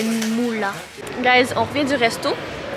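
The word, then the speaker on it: Muğla: En fait, ça s'écrit M-U-G-L-A, mais avec un accent. Le G, il y a un accent, donc ça fait Moula.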